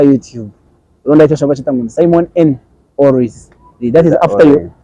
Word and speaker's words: Simon N: Is it Simon N or it's Simon EN? Simon N. That's the real pronunciation. Yeah, the real pronunciation is Simon N.